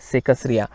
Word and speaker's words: सेकसरिया: सेकसरिया है ना, वो अलग अलग शब्द, यहाँ पर कोई भी जोड़ शब्द नहीं है या संयुक्त शब्द नहीं है, वो अलग अलग अक्षर हैं, तो उसका प्रोनाउंसिएशन भी थोड़ा सा अलग अलग ही होना चाहिए।